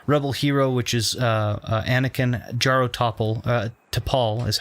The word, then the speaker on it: Jaro Tapal: Jaro Tapal is how you say that, rather.